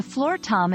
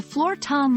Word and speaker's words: floor tom: Floor is straightforward, just like the floor you walk on. Tom rhymes with palm.